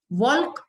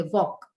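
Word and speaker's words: walk: knife के silent वॉक वाल्क ऐसा नहीं बोलते वॉक तो एल साइलेंट एंड आर तो एच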